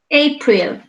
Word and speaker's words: April: April. Okay. The first column, the first syllable.